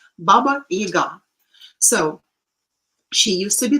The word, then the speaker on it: Baba Yaga: for example, this Baba Yaga. We call him Yaga, and somehow it is the stress is falling on the first syllable, which is wrong. Baba Yaga.